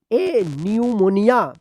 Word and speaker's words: pneumonia: By chance जो है ना कोई सही लिखेगा, तो आप जो है ना अभी से इसको सीख लीजिए, PNEOMONIA न्यूमोनिया, ठीक है, न्यूमोनिया।